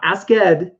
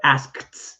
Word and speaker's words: asked: Not asked, but asked. It actually has an ED-T pronunciation.